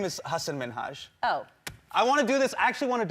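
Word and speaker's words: Hasan Minhaj: television good please because everyone that says your name says hassan minaj yeah but the real way you pronounce it and this is a big deal because my parents are here it's hassan minhaj and people always mispronounce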